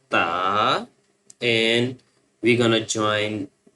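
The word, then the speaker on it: ت: And the next one with two dots on the top that's called ta.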